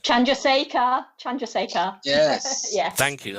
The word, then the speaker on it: Chandrasekhar: books by the indian physicist i can't even pronounce it tonight chandrasaka chandrasekhar chandrasekhar yes yes thank you i nearly got